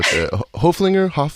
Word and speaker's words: Hoeflinger: And yours, I just so I pronounce it right in the intro. Hoeflinger. Yeah. Hoeflinger.